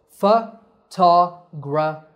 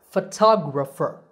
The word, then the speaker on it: photographer: In these words, the stress is on the second syllable. It becomes a long ta, and the other vowels become short. So, photographer, photographer.